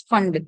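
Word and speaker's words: Pfund: And then fund ante P fund, but you pronounce it as fund. P akkada silent ga untundi.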